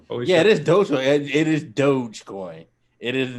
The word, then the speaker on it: Dogecoin: I had to look up how to pronounce. I guess it really is Dogecoin. Holy shit. It is Dogecoin.